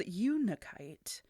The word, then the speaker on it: unakite: watch vulva I had to watch uh many a YouTube video to make sure I was saying it right. Uh but it is uniite and it gets its name